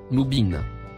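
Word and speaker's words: مبين: Les deux mots, en surbrillance bleue, se prononcent respectivement, Adou, Moubin.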